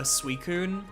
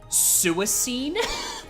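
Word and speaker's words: Suicune: Uh Suicun. I had no idea how to pronounce that name as like an 8-year-old. So I was like, um, uh, suicine, which is just awful, awful on so many levels.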